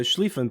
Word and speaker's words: Schlieffen: The western front um is part of a German strategy which was the Schlieffen plan. Um did I pronounce that right?